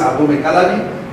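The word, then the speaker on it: Abomey-Calavi: Non, Abomey Calavi, j'avais souligné. C'est comme ça qu'on prononce Abomey Calavi.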